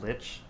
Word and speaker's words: lich: So if this person is using this phylactery to make themselves into something like a lich or something like that, It's pronounced witch.